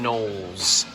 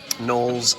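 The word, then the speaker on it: Knowles: And this is the same shape, but not the same sailboat decoration, but it is Edwin Edwin M. Nolles Nolles spelled with a K.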